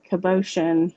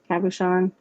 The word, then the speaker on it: cabochon: most people think so this is a beautiful kubotian how do you say that word cabochon that i got at a metaphysical store that's